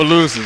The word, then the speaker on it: Opelousas: Our player guest, number one here tonight, is number 15, Brylan Green, senior from Opelousas. Am I pronouncing that right? Opelousas.